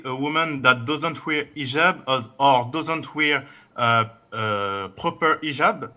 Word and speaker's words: hijab: in hotel or but this is an Arabic word. So we Muslims we have to say hijab.